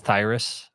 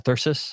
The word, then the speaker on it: thyrsus: And when you look at Dionysus, he's usually carrying a thyrus or a thyrsus. I think that's how you say it, thyrsus, which is basically this.